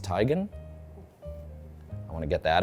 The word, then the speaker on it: Teigen: uh Chrissy Teigen who told me it's actually pronounced tygan I want to get that out there uh